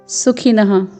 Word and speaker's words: सुखिनः: फिर है सुखिनः, पूर्ण दंत्य स में ह्रस्व स्वर है, फिर ख में ह्रस्व स्वर, फिर न में विसर्ग है सुखिनः।